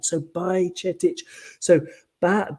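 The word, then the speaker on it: Bajčetić: The first C in Bajcetic has a little V on top, which is like Czech, where you pronounce it as a ch, like church. So it's Bajc, and then is like E, Bajcetic, Bajcetic, and I can't do the last one.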